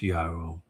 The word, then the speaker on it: Yahweh: For anybody that's stupid enough to say that no one knows how to pronounce God's name or it's not pronounced Yahweh. How come you know that it's the valley of Jehoshaphat? And you know Shaphat means to judge. Therefore, it's Yahweh, isn't it? It's obvious.